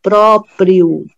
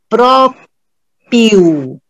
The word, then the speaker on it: próprio: eu estou falando, próprio, eu já ouvi falar próprio, não tem o R, eles não colocam o Rzinho, isso é próprio dele, tá? Está de uma maneira incorreta, tá? Próprio, você tem que pronunciar o R também, da última sílaba, próprio, né? Da última sílaba não, da penúltima sílaba, próprio, tá?